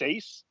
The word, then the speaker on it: Seis: It's pronounced S, not pronounced. It's spelled SEIS, which I believe that's Sace.